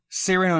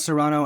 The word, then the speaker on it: Cyrano: Cyrano, not Serrano, and then Titan, not Titan.